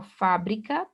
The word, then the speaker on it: fábrica: Da mesma forma aqui, ó, fábrica, pro paroxítona, acento obrigatório no A.